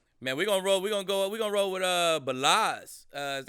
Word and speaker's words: Ballage: Man, we're gonna roll with Balaz. Is that how you say his name? Yeah, Kalen Ballage.